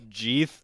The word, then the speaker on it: Jeth: red magma and Jeth Jeth as in teeth with a J I was thinking Keith but but yeah no it's spelled like Teeth though oh man I just